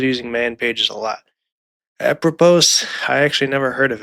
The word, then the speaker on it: apropos: And apropos, I keep saying it wrong. It's actually a French word called a propos. Or a a propos. Sorry, I I do not speak French.